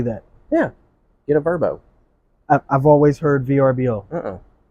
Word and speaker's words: VRBO: how that's how the that company pronounces it verbo yeah I've never heard them say that yeah get a verbo I've always heard VRBO